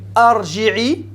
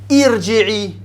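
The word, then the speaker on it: ارجعي: Est-ce que c'est arji'i, urji'i, irji'i? Irji'i. Pourquoi? Ça va être un I. Parce que la voyelle médiane c'est un I. Si c'est un OU, c'est un OU qu'on prononce. Si c'est un I, c'est un I. Et si c'est un A, c'est aussi un I.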